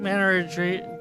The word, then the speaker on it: menagerie: I mean, menagerie.